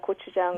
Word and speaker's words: gochujang: If you like spicy, the Korean traditional sauce is the gochujang, which is it's a pepper paste.